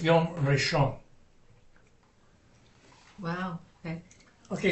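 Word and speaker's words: ראשון: And it's Yom Rishon. Wow. Okay. Okay, see this aleph here? In the pronunciation of the word is not doing anything.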